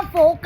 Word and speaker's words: folk: लावणी dance, Maharashtra का फोक dance.